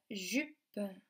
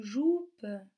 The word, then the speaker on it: jupe: C'est le mot jupe, jupe. Attention, ce n'est pas le mot joupe, c'est jupe.